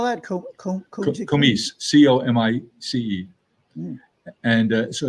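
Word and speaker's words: Comice: It's a variety that we own, and it's called Komish pear, and it's terrific. It's each pear weighs about a pound. How do you spell that? Komish, C-O-M-I-C-E.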